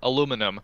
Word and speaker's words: aluminum: Or aluminum.